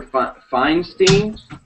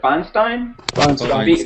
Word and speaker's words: Feinstein: um there is a senator named uh Senator Feinstein finstein Feinstein and she has proposed a bill